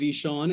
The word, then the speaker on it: Zishan: Hey everyone, my name is Zishan. It's pronounced just like a Z and a Sean.